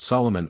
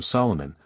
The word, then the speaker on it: Solomon: king's compatriots called him Solomon pronouncing his name as an amphibrach not as a Dactyl as we do the name of hyam